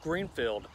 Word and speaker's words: Gruenefield: a brand new community called greenfield it's not spelled like the color it's built like the name the name of the town green and why is that